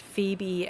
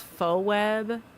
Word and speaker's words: Phoebe: I remember when my high school BF pronounced Phoebe as faux webb.